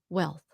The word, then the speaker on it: wealth: có nói nó hết, this is only one syllable. Just one syllable. Wealth. But if you just say well, you could be saying well, I don't know. Wealth. Just like the word health.